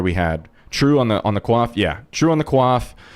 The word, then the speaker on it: coif: Nice pronunciation on the coif. I just learned it the other day that it's pronounced quaff.